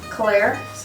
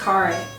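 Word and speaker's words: Khare: Claire? No, I think it's Carre. Because it's Car, but the way it's spelled and the way she says it is Carre.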